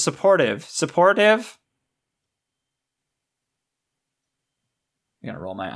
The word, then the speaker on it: Support Hive: Support Hive? You pronounce the last one as supportive.